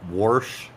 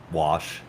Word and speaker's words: wash: mouth that way it took a lot of years to get rid of uh warsh and garage so I'm I'm really good what is warsh wash what in the holy